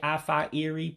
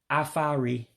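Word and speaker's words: afọ iri: a little tricky because you drop one of the vows you drop that first I when you pronounce it so you're not actually saying AA Erie but I think if you do say AFA Erie people still would understand what you're saying but the common way of saying it would be aari which means decade afari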